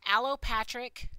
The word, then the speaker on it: allopatric: Now, this is pronounced allopatric speciation.